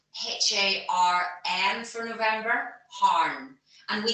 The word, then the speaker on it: harn: And that is spelled H-A-R-N for November, harn.